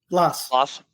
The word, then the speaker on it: Blas: How do you pronounce it? Blas.